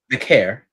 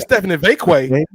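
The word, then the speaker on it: Stephanie Vaquer: That's how you say it. Vicaire. I heard of Stephanie Vakeway.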